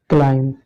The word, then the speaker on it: climb: है, तो ये बी आपका क्या है, सारे साइलेंट है। इसको हम क्लाइम पढ़ते हैं, क्या पढ़ते हैं, क्लाइम।